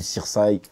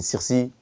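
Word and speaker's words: Sirsy: Et voilà, en plus, t'as vu Sirsaï, ça s'écrit Sirsaï, S-I-R-S-Y. Les gens dans la rue m'appelaient Sirsi.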